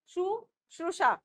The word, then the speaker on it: शुश्रूषा: हर घड़ी उनके मन में दीनों के की सेवा शुश्रूषा शुश्रूषा, आप इसका उच्चारण करेंगे, शुश्रूषा की कामना जागती रही।